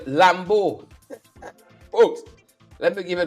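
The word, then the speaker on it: Lambeau: to my um pronunciation Lambo and then I learned it's a French word and it's spelled for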